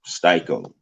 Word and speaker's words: Styco: So I changed it to Styco, put the little line over the I, or, as you see in the parentheses there, STY space KO, Styco.